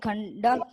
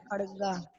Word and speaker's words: खड्ग: क्षमा वशीकृत लोके क्षम्या किम न साध्यते शांति खंडक। अभी यहाँ देखिए आपने भी यहाँ पे खंडा का उच्चारण किया है। खड़गा। हाँ खड़गा, खंडा नहीं होगा बेटा, खड़गा।